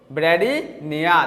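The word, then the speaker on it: bradypnea: यहाँ पर पी जो होता है वो साइलेंट रहेगा, ठीक है, जहां पर भी पी है वो साइलेंट रहता है, इस पी, ठीक है। तो जो पी है वो साइलेंट रहेगा, तो इसको पढ़ेंगे हम लोग ब्रैडीनिया।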